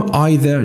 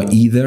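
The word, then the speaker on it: either: بودن و یکی هم آذر یا اذر هر دوش تلفظ میشه ادر اور بچه‌ها ادر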